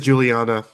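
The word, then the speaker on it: Guiliana: saxoponist Donnie Mccasin and drummer Mark Giuliana or Juliana. I can't remember how it's pronounced. It's spelled with a G. I I think it's Juliana.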